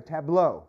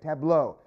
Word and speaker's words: tableau: try that pretty good now put it together tableau right tableau who else can say it for me yeah